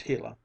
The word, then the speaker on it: Gila: Shone down on the hila monster pronounced hila it was no longer tame